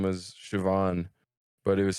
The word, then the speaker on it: Siobhan: if I were to pronounce it, it would be like Shalbahan, Shalban, or something. Siobhan.